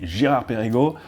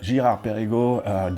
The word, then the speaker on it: Girard-Perregaux: Next one can be a little bit more tricky, Girard-Perregaux, lots of R's there, and we indeed don't pronounce these R's the same way around the globe.